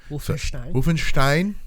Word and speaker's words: Wolfenstein: Wolfenstein. Making it sound like a Jew surname. That's how you pronounce it.